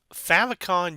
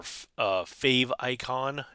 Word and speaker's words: favicon: Favicon URL. So a favicon or fave icon, depending on how you want to pronounce it.